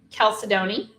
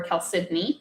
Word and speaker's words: chalcedony: So it's actually chalcedony or chalcedony, depending on depending on how you pronounce it.